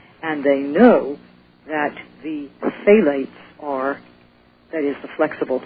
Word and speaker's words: phthalate: administration, or the flexible tubes, are made with phthalates. And if they want to know how to spell it, it's P-H-T-H-A-L-A-T-E, phthalate.